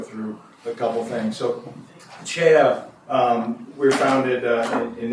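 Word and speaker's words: CEIA: It is pronounced CHA.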